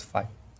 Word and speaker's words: phi: Phi, it is pronounced as phi.